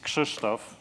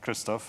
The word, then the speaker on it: Krzysztof: So my name actually is Krzysztof, not Krzysztof. And if you look at how it's spelled, it doesn't help. This is how you say it.